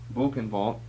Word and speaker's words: Buchenwald: Buchenwald. It's pronounced that way in German. B-U-C-H-E-N-W-A-L-D.